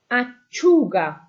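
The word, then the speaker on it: lattuga: Let's have a look at auga. Again, your u is where the stress is. Auga.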